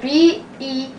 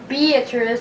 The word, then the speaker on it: Beatrice: That's B-E-A-T-R-I-C-E. Now some people may pronounce it Beatrice, but we pronounce it Beatrice, because we live in Nebraska.